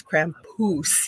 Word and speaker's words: Krampus: We think he is over here in North America, but he told me we say it wrong. It's Krampus, he says.